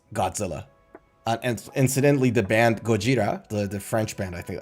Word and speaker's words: Gojira: It's a Japanese pronunciation of the English word.